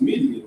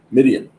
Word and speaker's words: Midian: This is pronounced Midian, right? Midian.